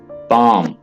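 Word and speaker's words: palm: हद ड्रॉन ओं कि अतीत दान t&c में पाम यहां पर एस ए साइलेंट ठीक है आपने इसे अंसारी एवं साइलेंट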